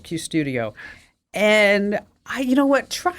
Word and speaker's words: Qustodio: Anyway, it's called Custodio, and it's spelled with a Q, Qustodio, Custodio, and.